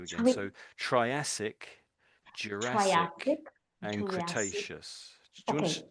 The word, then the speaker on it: Cretaceous: Do you want Let me let me just let me just say all three of them for you. Listen for a moment and then you can have it. Give it a go. So, Triacic, Jurassic, and Cretaceous. You'll go. May I give it a go? Okay. Triacic, Jurassic, and Cretaceous. Yeah. Oh, sorry. Cretaceous. That's it. You got the triacic triacic cretaceious.